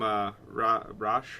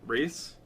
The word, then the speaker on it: Ra's: I always call him Ra's al Ghul. Other people call him Race or Ross. al Ghul. Raish. So I don't Yeah. really know what the exact I pronunciation know is.